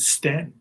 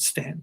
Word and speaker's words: Staunton: when i got there i think they said stan we pronounce it stand here you don't know